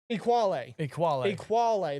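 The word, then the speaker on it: Ekuale: Is that how you say it? Equale, that's right.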